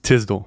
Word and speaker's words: Tisdol: Your last name is pronounced Tisdol.